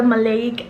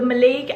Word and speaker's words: maleic: it because I really liked their oil the malayic acid oil okay I was pronouncing it as may like everyone makes mistakes so the maleic acid Bond repair oil and on that note